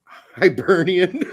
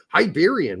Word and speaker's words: Hibernian: with the punches because you can't pronounce Hibernian I can't now because you brought it to my attention I'm like why do I keep calling them hiberian what is this Battlestar